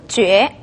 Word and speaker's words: 觉: 睡觉가 될 때는 觉라고 발음이 되죠.